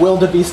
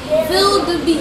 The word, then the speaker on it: wildebeest: Wildebeest. Exactly. So just like how you take the V sound and pronounce it with a... You take the W and you pronounce it with a V.